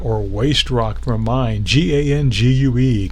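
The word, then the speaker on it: gangue: waste rock from mine g-a-n-g-u-e ganje you know the great English language it's pronounced gang and so look at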